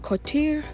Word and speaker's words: coterie: And Coterie, I think that's how it's pronounced. A coterie, yeah, a coterie, not a coterie, sorry.